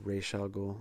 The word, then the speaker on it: Ra's al Ghul: First Ra's al Ghul, or Ra's al Ghul. I think it's Ra's. You hear it pronounced some different ways.